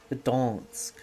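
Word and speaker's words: Gdańsk: Polish pronounces the initial G, which sounds weird Germanic. And also that's a... not an inya, softened in. Pronounced like the front half of near, I guess. Donsk. Gdansk. Huh.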